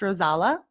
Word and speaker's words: Rozalla: pronounce your name correctly it is pronounced rose Allah okay wonderful you're coming